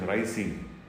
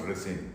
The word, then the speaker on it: ricin: to be precise is racing actually the correct pronunciation is rising though it is commonly mispronounced resin I am not very sure as to why